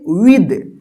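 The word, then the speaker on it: with: एच इसको क्या पढ़ेंगे विद विद पढ़ते विथ नहीं पढ़ते है विद ठीक है ना विद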